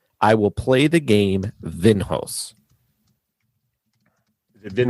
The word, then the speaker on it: Vinhos: will play the game vinhos they've been host like like host like it's one word okay without the T okay yep we'll play vinhaus v-i-n-h-o-s yes I may